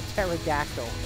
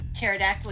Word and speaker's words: pterodactyl: you never heard the pterodactyl used the bathroom before Oh because the p is silent oh oh God two